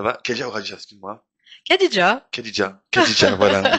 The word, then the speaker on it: Khadidja: Khadija, voilà, on prononce bien Khadija.